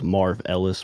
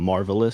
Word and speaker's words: Marvohlis: pronounce my name right they thought I was Marv Ellis but I'm marvelous so I don't you